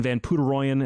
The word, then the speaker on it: Poederoyen: So John Howard of Threat Signal and Ryan Van Puderoyen is how you say his name. It's spelt. There's a reason I couldn't pronounce the damn thing. It's spelt Poederoyen.